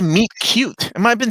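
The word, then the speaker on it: meet cute: link again sorry guys are we doing a meat cue i thought it was a meat cute am i been saying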